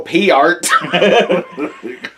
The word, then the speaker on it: Peart: Well, it's like how we just realized that we've been saying Neil Peart's name wrong for the last however many years.